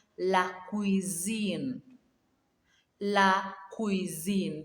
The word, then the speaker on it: cuisine: La cuisine. That single S there, we pronounce it as Z. La cuisine.